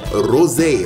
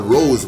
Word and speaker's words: rosé: Followed by triple sec, followed by some rosé, okay? You see that little accent on the E? You gotta pronounce that. Rosé. You can't call it rose wine.